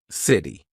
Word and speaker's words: city: This is when T sounds like a very quick D. Very big in American pronunciation. So when the letter T is in between two vowel sounds or diphthongs, all right, we're going to use that quick D. So, city, right? I'm not saying city.